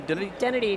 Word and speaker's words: Dennedy: by introducing our guest maike I always mispronounce last names so how do you say your last name duty identity just like can be with a D works